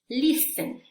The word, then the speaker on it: listen: Ahora, la letra T. Listen, listen, soften, soften, castle, castle, often, often, 20, 20. Y miren, estas últimas dos, muchas personas, perdón, muchas personas sí pronuncian la T. En estas dos realmente es opcional, pero la mayoría de las personas, sobre todo en el acento americano, en la pronunciación americana, perdón, no se pronuncia.